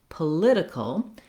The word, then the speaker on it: political: Then when we switch to political, we have second syllable stress. So now my letter O no longer says the ah like in politics. Instead, it has a schwa. It's very short and reduced. Political. That's because the lid syllable is stressed. It has the clear vowel and the length.